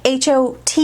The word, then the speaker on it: HAUTE: was fraught with anger au te is hot so I'm pronouncing this one hot and this is in